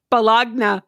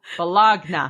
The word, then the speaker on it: bologna: Bologna. Bologna. But it's like everything is silent after. Right? With the silent G.